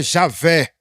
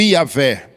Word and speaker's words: Javé: O nome de Deus, pessoal, que a pronúncia mais aproximada do tetragrama, que são as 4 letras hebraicas, é Javé, ou Iavé.